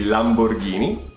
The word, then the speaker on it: Lamborghini: Lamborghini. Mm-hmm. There's no twang in Italian, so it would be Lamborghini.